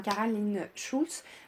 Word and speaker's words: Cara Lynn Shultz: On prononce comme ça, hein, Caroline Schulz.